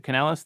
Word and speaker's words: Kanelos: and morality i'm joined today by dr pano canelos president of the newly founded university of austin dr canelos thank you for joining us today thank you